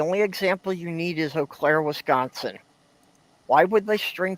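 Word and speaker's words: Eau Claire: Oclair, Wisconsin is e au and it's pronounced o praeen means means a field of cats, doesn't it?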